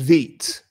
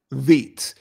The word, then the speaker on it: Vite: So it's French. So it's Vite. Vite. It's actually got, if you